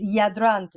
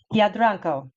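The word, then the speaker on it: Jadranko: But it's Yadrant. Yeah, let's see. I'm going to say it again because I didn't get it right, and I have to pronounce it properly. It's Yadranko, and he was the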